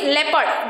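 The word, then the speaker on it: leopard: word लेपर्ड what is that लेपर्ड इट इज लेपर्ड there we are pronounce in evo combination E sound S ए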